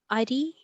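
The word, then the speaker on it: अरि: Ari. Ari you can say. Good. Ari is Shatru. also. Not Hari. Okay. Ari. Please others note the pronunciation is important. If the vowel is there, Ari means enemy.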